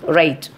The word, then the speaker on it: write: First one, W is not pronounced at the beginning of a word when it is before the letter R. For example, write, WRITE, write the spelling, but we used to say write.